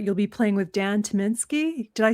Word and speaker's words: Tyminski: I saw on your schedule that you'll be playing with Dan Tyminski.